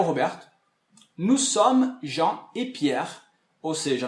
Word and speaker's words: sommes: Somme. Eu coloquei um acentozinho para fazer a distinção com o on, que a gente vai ver depois. Então a pronúncia é somme, somme, e tudo fica nous sommes.